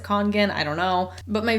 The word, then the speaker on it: Kangen: congan water filters again i'm pretty sure it's pronounced kangen every kind of like more official video that i've seen explaining these water filters by people who are like in the company they all pronounce it kangen i don't know but